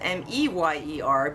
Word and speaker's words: Mayer: And some people thought it was M-E-Y-E-R, but the old commercial is still there. So it's not pronounced Mayer. So it probably was always M-A-Y-E-R, but pronounced Meyer.